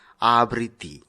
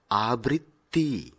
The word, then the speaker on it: আবৃত্তি: আবৃত্তি শব্দটিকে আমরা অনেক সময় ভুলভাবে উচ্চারণ করে থাকি। আবৃত্তি যা ব্যাকরণ সিদ্ধ নয়। সঠিক উচ্চারণ হবে আবৃত্তি।